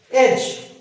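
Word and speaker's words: edge: Maths में हम पढ़ते हैं एज, यहाँ पे डी नहीं बोलना, एज कोना, सिरा, किसी चीज का सिरा या कोना।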